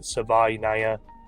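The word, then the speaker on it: Savaiinaea: At 65 given the board, I'm going to go with Jonas Sava or yeah, Savvaya. Finally got the pronunciation. He said it himself at his combine press. It is Sava.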